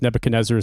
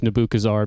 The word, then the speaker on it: Nebuchadnezzar: I pronounced Nebuchadnezzar Nebuchazar because I was too ambitious in the words I was going to say aloud and I refused to ask for help.